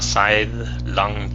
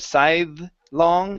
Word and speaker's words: sidelong: She shot Philip a sidelong look. Okay, now when you're pronouncing side, it's not going to be scythe with a Spanish D. It's sidelong. Instead of scythe long, it's sidelong.